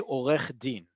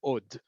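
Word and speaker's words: עורך דין: news or on TV, they're going to say Olech Din. They're not going to say od.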